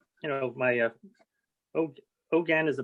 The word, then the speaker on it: Hogan: okay so um you know my uh oh ogan is a pronunciation pronunciation of my name my father gave